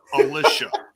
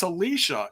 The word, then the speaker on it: Alicia: podcast and I was saying Alicia. And all of a sudden one day she's like, by the way, it's Alicia. And I'm like, Oh, you've been on here for a year and I've been saying it wrong for you.